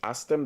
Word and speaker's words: Astem: So, Astem, is Asthem, Astem. That's Astem, this is how it's pronounced.